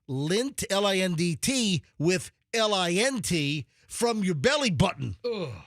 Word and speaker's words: Lindt: Dude, it's just lint. That's It's disgusting. It's like belly button lint.